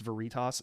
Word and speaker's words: Veritas: he needs an award seriously project Veritas it's Veritas needs to come out with a Doritos knockoff